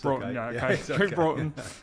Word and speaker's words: Broughton: pronouncing your second name wrong so did I pronounce it right there Bron it's Bron who is a fear coach um he also